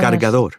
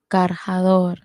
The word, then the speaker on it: cargador: Cargador. Cargador. Oh, lo siento. Cargador, not cargador. Cargador is the hard he sound, hard he sound.